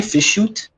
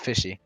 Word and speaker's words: fish shoot: am I fish shoot? Oh yeah, okay. Don't know who I am. Yes, fish shoot, not fishy.